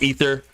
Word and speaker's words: aether: Now, everyone call I know it's ether. It's spelled aether. I think they need to change the Diablo Lord to Aether. Aether just sounds cooler. Ether is cool, too, but ether spelled with an E.